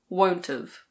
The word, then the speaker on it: won't've: Will not have becomes won't've.